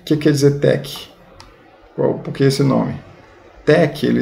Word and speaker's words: TeX: vamos passar então aqui o que quer dizer tec porque esse nome tec ele escolheu do grego né e ele ensina que a pronúncia técnica não vai falar sexy eu não